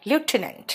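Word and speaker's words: lieutenant: NDA, लेफ्टिनेंट, लेफ्टिनेंट, यस, लेफ्टिनेंट में F नहीं होता ना, लेफ्टिनेंट के स्पेलिंग में ल्यूटिनेंट होता है, नहीं प्रोनाउंसिएशन देखो उसका, लेफ्टिनेंट हो।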